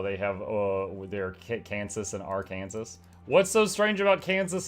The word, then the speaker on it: Arkansas: Our Kansas communism. It's not your Kansas, it's Arkansas. If it was Arkansas, it would be spelled that way, but it's not spelled that way.